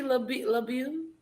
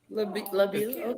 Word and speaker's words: LeBeau: Is that your real name, LeBeau? Or that's At just least. something you made up? Yeah, that's my LeBold. name. How do I You said it right. LeBeau?